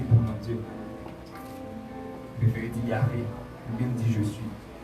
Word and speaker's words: Yahvé: Mais là, on dit Jéhovah, tout c'est une mauvaise prononciation de Yahvé.